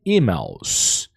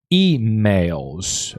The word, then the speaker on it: email: Um, and just don't forget um, to pronounce this word here properly because this is not e-mails as we um, um, Brazilians tend to speak. It's e-mails, right? Repeat with me, e-mails.